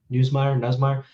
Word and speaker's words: Nussmeier: Nussmeier.